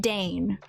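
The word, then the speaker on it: Dain: pieces Mera also said find Dane spelled like pain but with a d find Dane dannee is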